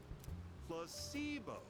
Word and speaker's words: Ito: and I don't like Ito the stress is on the middle his nickname was Average